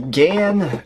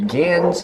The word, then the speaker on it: GAN: Next up here, we have the GAN 2x2, or the GANs 2x2, depending on who you ask and what kind of pronunciation you use.